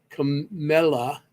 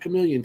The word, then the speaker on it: Camilla: Todd and Camilla. See, I said it right. No, it's not Chameleon tonight.